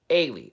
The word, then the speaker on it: Ailey: It's pronounced Haley, but without the H. It's Scottish. Get out of here. Okay. Ailey.